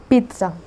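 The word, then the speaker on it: pizza: इसकी जो प्रोनाउंसिएशन है वो पिज़्ज़ा नहीं है बल्कि पिज़्ज़ा है, पिज़्ज़ा। यहाँ पे मैं लिख देती हूँ, अब पिज़्ज़ा, पिज़्ज़ा। अब जैसे पीटना होता है ना, तो ऐसे है पिज़्ज़ा।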